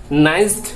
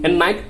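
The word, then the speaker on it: night: নাইসড না নাইট, কোনটা? নাইট উচ্চারণ হবে।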